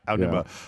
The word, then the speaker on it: Aonuma: Yeah, Aonuma.